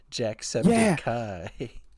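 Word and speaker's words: Jacksepticeye: I am Jack sepai but it's spelled like septic still but it's Kai at the end instead of I Jack Septic Kai I'm I'm Jack Septic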